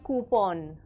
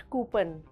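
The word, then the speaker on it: coupon: can redeem this कूपन ओ यू पी ओ एन इज कूपन नॉट कूपन very simple for example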